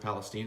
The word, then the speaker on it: Palestine: just actually brought a client on board in Palestine I'm learning it's pronounced Palestine right yes two two hours East of here